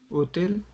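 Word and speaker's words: hôtel: how we say hotel now it's clear we just directly do not say h in French easy guys yes so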